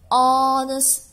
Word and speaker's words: honest: umbrella be an hour so this is the silent right hour and honest person and honor and air right so if